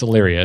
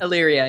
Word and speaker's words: Illyria: It's Illyria, isn't it? Illyria, yeah.